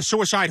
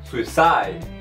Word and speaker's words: suicide: E a pronúncia dessa palavra aqui é suicide, suicide. E o E nessa palavra não deve ser pronunciado.